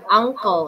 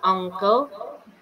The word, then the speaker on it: uncle: Kayak yang ini an uncle itu U-nya bacanya kayak huruf gitu kan, an uncle.